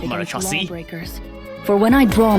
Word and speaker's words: Marechaussee: Oh yeah, it's actually pronounced Marechaussee, not Marechaussee.